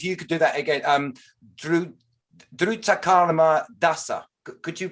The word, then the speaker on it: Drutakarma Dasa: Drutakarma Dasa. Could you pronounce it properly? Good. That's good. That's quite good. Drutakarma Dasa.